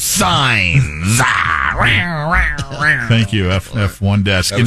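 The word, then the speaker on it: Sainz: It rhymes with fines, but it's signs.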